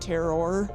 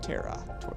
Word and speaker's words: Terra: I always pronounce it terror tokens, but Terra tokens.